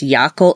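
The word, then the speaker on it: Jaakko: be pronounced well actually I think the finish spelling is J a cake AOL it's Yakko it's basically the finished version of Jackson you know like one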